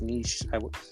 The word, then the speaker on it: niche: And Michelle, it's pronounced niche, not niche. I told you it was niche. The first one was niche.